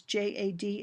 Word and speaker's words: JAD: often the acronym is j a d it's always I have always heard it pronounced uh not as a word so as Jad so a joint application